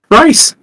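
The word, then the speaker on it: Rhys: Rice. Rice. That's right. You're being named after food. How do you spell it? It's spelled RH H YS. Rice.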